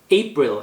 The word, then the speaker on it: April: 다음 April 액센트 이름절이고요.